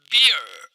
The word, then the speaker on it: bear: इसको आप बीर नहीं पढ़ेंगे दोस्तों, आप इसको ऐसे बोलेंगे Bear, bear.